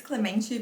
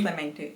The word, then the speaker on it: Clemente: It's Clemente, but you can say Clemente.